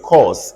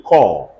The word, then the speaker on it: corps: CORPS is a French word. It's not called cause. Everybody say core. The P and the S are silent, and the word is pronounced as core, the same way you would have pronounced CORE.